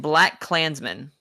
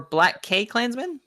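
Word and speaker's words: BlacKkKlansman: Romo yes no and black Klansmen or black K Klansmen okay you don't pronounce the K in the middle okay I wanted to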